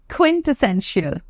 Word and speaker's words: quintessential: list is this word quintessential quintessential okay go ahead with me once again quintal so if you can pronounce essential it will be easier for you to pronounce oun quintessential quintessential right listen to